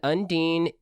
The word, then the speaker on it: Undine: from south africa and undine is bless her heart she included for juliana's pronunciation corner think of underwear and nadine and then put them together andy this is clearly this